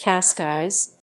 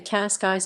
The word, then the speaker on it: Cascais: Cascais. Cascais Portuguese pronunciation, křejšťkajšʼ, is a municipality in the Lisbon District of Portugal, located on the Portuguese Riviera.